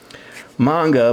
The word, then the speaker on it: manga: a sound and that's why it really is pronounced manga but um you know I'm not going to